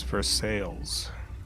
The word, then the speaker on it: Versailles: Versailles is for sales. Versailles.